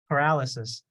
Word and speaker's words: paralysis: the previous uh person remember what we put the emphasis on the word we don't put it on the license we put it on the right so paralysis okay yeah yeah so growl